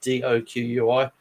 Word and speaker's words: Doqui: And forgive me if I pronounce his name wrong, but Robert Doqui, like Doqui.